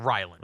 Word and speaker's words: Ryland: Chad Ryland misses, or Reland. How do you say his name? Chad Ryland, the kicker? It's Ryland.